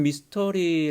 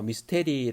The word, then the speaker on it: 미스터리: 이렇게 나누도록 하겠습니다 여러분 미스터리 라는 말을 아시지요 영어 발음으로 미스테리 라고도 하지만 예 잘못된 발음이 고원 발음은 미스터리 라고 합니다 숙주로 상식적으로는 이해할 수